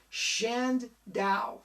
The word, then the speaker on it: Chandaue: here it is page 17 he says it's pronounced shand dao shan's ow mark shendo harpercrown folks if anyone